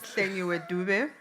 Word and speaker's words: Langi Du: So my name is Langi Du. Uh that's that's how it's pronounced Langi.